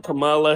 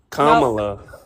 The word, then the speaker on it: Kamala: I hope you still can't even say her name right. Camela. That's definitely not a name. Kamala, there you go.